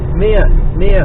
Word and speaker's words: Mere: Mere, not ear, mere, as in meerkat. Well, not as in meerkat, as in mere, the lake, or large pond, M-E-R-E. Pronounced as in meerkat, not fucking ear.